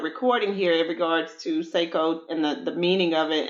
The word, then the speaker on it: Seikou: So Seikou actually means success in Japanese.